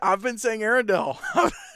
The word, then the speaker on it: Arendell: I'll just say Parrott Arendell Academy. Parrott. Okay, that's good to know because I've been saying it wrong myself. I've been saying Arendell. It's Arendell.